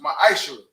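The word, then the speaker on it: מעשר: Means tenth in the Hebrew, and is pronounced ma'ashur.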